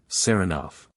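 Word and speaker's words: Saranoff: him round this way he pronounces the name with the stress on the second syllable seroff Nicola yes sir he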